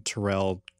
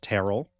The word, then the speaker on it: Terrell: Mary Church Tyrell now i don't know if i'm pronouncing Tyrell the way that she pronounced it or her family pronounces it I'm only doing that yes because that is my first name that's how it's pronounced but maybe it's terrell but that's how some people have mispronounce my name so i don't know